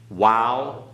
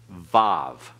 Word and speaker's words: Waw: And remember that the Waw can also be called Vav. Okay, put a V on each end of it. That's modern Hebrew pronunciation. That's not classical Hebrew pronunciation.